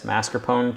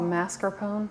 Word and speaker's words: mascarpone: flake it apart, and use some of this mascarpone cheese along with some Parmigiano Reggiano, and then